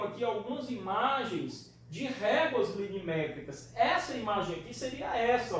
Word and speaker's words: linimétrica: Pronuncie isso aí direitinho para não falar limimétrica. É linimétrica, tá?